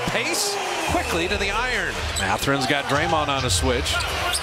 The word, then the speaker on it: Mathurin: People, oh, is it Mathurin? No, it is Benedict Mathurin, and you'll learn that.